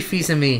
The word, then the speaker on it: Fils-Aimé: The last page is E3 Bingo, where how the hell do you pronounce his last name? Reggie Fils-Aimé.